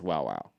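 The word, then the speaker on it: Wowow: I think you double pronounce the W, and it's Wow Wow.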